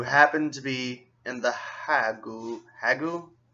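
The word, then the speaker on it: The Hague: or hog and the hog I'll say hog because it's spelled kind of like Prague you don't say prou you say Prague or pragu hog yeah the hog and he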